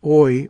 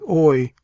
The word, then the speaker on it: I: When addressed, he only replied with the brief monosyllable I, which he pronounced oi, oi, and which, slightly inflected to answer various purposes, served him for all response.